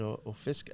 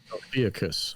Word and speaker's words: Ophiuchus: Ophisk? I don't know how to say it right. Ophiuchus.